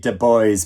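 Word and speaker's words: Du Bois: and re-evaluate it the love songs of web de Boys by honorary fenon Jeffers and yes it is pronounced Deb that is how web Debo pronounced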